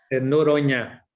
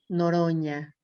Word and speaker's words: Noronha: Noronha. Noronha, La NH en portugués es como la ñ con tilt. Noronha.